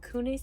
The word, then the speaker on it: Kunis: How do you pronounce her last name? Kunis.